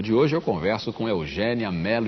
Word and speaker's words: Eugénia: Você deve ter percebido que eu fiz um esforço aqui para dizer Eugênia e não Eugênia. E não Eugênia. O seu nome se escreve com acento agudo.